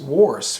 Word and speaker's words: worse: sounds like horse right so what about this word w-o-r-s-e hm should be pronounced worse right no but it's pronounced worse worse hey his singing is